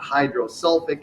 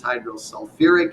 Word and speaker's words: hydrosulfuric: the ending and so h2s is not hydrosulfic acid it's hydrosulfuric acid h3p is not hydrophosphic